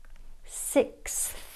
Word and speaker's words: sixth: the tip of the tongue s position, then through the teeth for the th. It's like tongue breakdancing. Sixth, sixth, sixth.